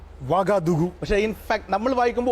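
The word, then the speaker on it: Ouagadougou: Correct pronunciation വാഗദുഗു ആണ്. പുതിയത്തെ പേര് Burkina Faso. പഴയ പേര് അപ്പർ വോൾട്ട ആണ് ഫ്രഞ്ചിൽ. സർ ഔഗാദൌഗു എന്നല്ല പറയേണ്ടത്, വാഗദുഗു. ഔ വേണ്ട. ഓ യു എന്ന് എഴുതുന്നത് ഫ്രഞ്ച് ഭാഷയിലെ വാ ശബ്ദമാണ്.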